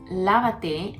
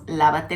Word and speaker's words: lávate: The first word, lávate, has an accent on the first A. Don't worry about that, but just say lávate las manos.